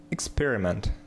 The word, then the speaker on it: experiment: Experiment. Здесь ударение на второй слог.